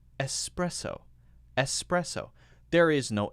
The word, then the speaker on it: espresso: lot of people say, espresso. Espresso. But it's not called espresso. There's no X in espresso. It's actually pronounced espresso.